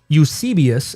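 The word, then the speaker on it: Eusebius: Um, but there are early external sources uh from something called Ucius. It's spelled E U S E B I U S which is ecclesiastical history uh from the early 4th century.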